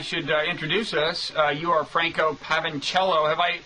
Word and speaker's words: Franco Pavoncello: You are Franco Pavoncello. Have I pronounced your last name or even your first Yes, correctly. name? Franco Pavoncello, yes.